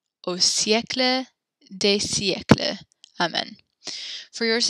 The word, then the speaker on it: siècle: And this is the way we pronounce this because there's the accent here on the E. You actually, there's you say the I and the E kind of separately. So it's siècle, siècle.